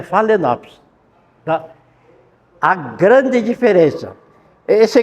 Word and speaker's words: Phalaenopsis: Escreve Phalaenopsis e pronuncia Phalaenopsis.